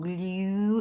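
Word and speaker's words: Gloo: works i'm telling you called glue it's g-l-o-o and i always pronounce it like that because i'm extra but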